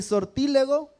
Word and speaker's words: sortílego: dice hermanos agorero mi sortílego está bien así pronunciado hermanos tiene acento en la i ni hechicero tampoco encantador